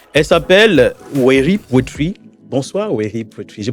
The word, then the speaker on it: Weri Poetry: Bonsoir, Weri Poetry. Je prononce bien? Oui, Weri Poetry.